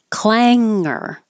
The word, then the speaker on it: clanger: divided into two authoritarianism clanger this is the NG combination Ang like sing so the tongue goes